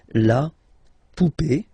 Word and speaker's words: poupée: and then here, okay, remember this final is not pronounced, so you will have this e, remember accent aigu, it's e sound, okay, la poupée, the doll, l'arrivée, the